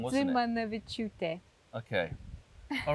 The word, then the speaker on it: Dzimanaviciute: Tongue, it's Dzimanaviciute. Dzimanaviciute. How was that? Nearly. It was the last bit I got wrong, wasn't it? Dzimanaviciute.